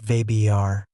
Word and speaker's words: Weber: "Name's Weber," he said, pronouncing it vibr, just as it would be in Germany.